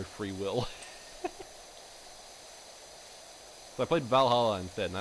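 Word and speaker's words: VA-11 Hall-A: Valhalla. Yeah. VA11 Hall A. That's how it's spelled.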